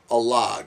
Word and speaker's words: Alag: that was that was a log yes I yes I found out way early in the film that I was totally pronouncing it wrong when I first was talking about it yes a log